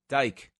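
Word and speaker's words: Dyck: Dyke.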